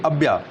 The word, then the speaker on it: Abaya: और लेक टाना जो है और लेक अब्या, स्पेलिंग क्या हो जाएगी? ABAYA, अब्या, और लेक अशाली, असाल है, ASSAL, अशाल।